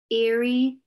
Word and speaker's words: Erie: 1245 Erie Avenue. Now, Erie is the name of a lake in New York. And that's just the way you pronounce that word, okay?